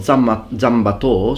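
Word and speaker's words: 斬馬刀: They talk about Zanbato, so the Japanese pronunciation of these characters, and they refer to the Nodachi or the Odachi.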